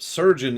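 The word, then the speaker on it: chirurgeon: actually looked it up surgeon is in fact a valid pronunciation of that word so i'm going to keep calling it surgeon if that's okay with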